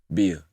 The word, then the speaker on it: Bia: How you pronounce her name? Is it Bia or B.I? Bia. Bia.